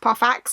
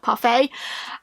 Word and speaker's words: Parfax: vanish in stroll's furious parfax still weird to me that it's pronounced perfects and not parfait um who is an